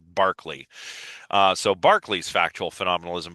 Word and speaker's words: Berkeley: So, uh, Berkeley's or Barkley, I should say. It's spelled Berkeley, but it's actually pronounced Barkley.